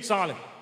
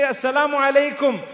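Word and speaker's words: السلام عليكم: But unfortunately, people today say, Salih. Have you heard them greeting you? Salih. What is Salih? They say, no, I mean assalamu alaikum. So say it properly. It's a blessed prayer for me. Say assalamu alaikum.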